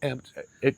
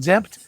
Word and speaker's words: Xempt: Emptex exempt. Zemp zemp. Yeah, like xylophone. Zempt.